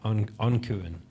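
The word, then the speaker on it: An Cuan: My friend, Irish speaker, taught me it as Ancuan.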